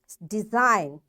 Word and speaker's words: design: is silent silent G design g is silent sign g is silent